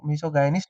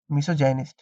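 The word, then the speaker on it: misogynist: मिसोगाइनिस्ट नहीं होता है। देखिए मी भी पूरा नहीं ले जाना है, मी नहीं ले जाना है, मी हल्का सा रखना है, मिसोजाइनिस्ट, ठीक है, मिसोजेनिस्ट, मिसोजेनिस्ट, मिसोजेनिस्ट, इस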